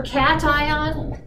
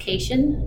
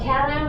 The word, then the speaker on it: cation: coming and going for cation sometimes pronounced ocation no no you think of the cat the big t there okay cations are positively